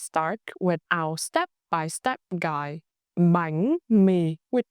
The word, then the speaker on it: bánh mì: for the vowel e, apply the raising sắc tone on bánh, and the low falling tone huyền on mì. Let's start with our step-by-step guide. Bánh mì with 2 syllables. Bánh mì.